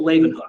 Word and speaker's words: Leeuwenhoek: There was a scientist, Antony van, I don't know if I can pronounce this very well, Leeuwenhoek, I think is the way it is pronounced.